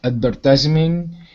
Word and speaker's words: advertisement: first four words okay advertisement and contract signed deposit good can you repeat advertisement advertisement close advertisement advertisement yeah advertisement advertisement yeah yeah advertisement okay good nice job just emphasize the first syllable that sounded good and